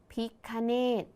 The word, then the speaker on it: พิฆเนศ: มา อีก เลย ค่ะ คำ นี้ อ่าน ว่า พิฆเนศ คำ ว่า พิฆเนศ มี 3 พยางค์ ใช่ ไหม